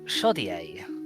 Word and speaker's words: Shoddier: Uh the smith is called shoddier which is spelled shoddier as in more shoddy.